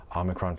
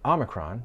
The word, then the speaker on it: omicron: Omicron for the British, for instance, while Omicron is dominant in New York.